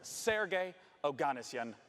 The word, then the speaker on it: Sergey Oganessian: It's called The Sinking City, and joining me to talk about it is the community manager at Frogwares, Sergey Oganessian.